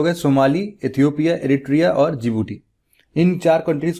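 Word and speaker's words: Djibouti: इसका नाम क्या है डी से स्टार्ट होता है लेकिन प्रोनाउंस जिबूटी करते हैं मतलब डी जे आई जी और बी ओ यूटी आई तो यह जो चार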